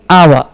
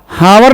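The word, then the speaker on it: hour: है he will back in आवर हावर नहीं आ आवर noun है घंटा घंटा ववर हस नहीं है आवर है ए साइलेंट है एन आवर टू थ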